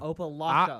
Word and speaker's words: Opelika: How do you say opalaka? How do you say See, frustrating? you're saying opalaka. That's what he just said. Yeah, you did, by the way. Opalaka. Opalaka.